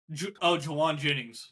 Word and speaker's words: Jauan Jennings: Jawan Jennings. Yeah. Yeah, I didn't want to mispronounce that.